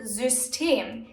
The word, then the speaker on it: System: Take the word System. Here, the Y is placed in the middle of the word and is being pronounced as Ü.